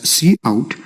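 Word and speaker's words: cout: we have c o u d which we pronounce as c out and it stands for console output and this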